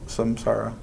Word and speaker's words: Samsara: So who do you want to have the experience of Samsara?